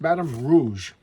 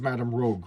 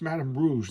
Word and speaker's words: Madame Rouge: Her name is Madame Rouge, like Madame Red. So she's a commie. Like Khmer Rouge. She's a bad communist villain. There you go. Madame Rouge.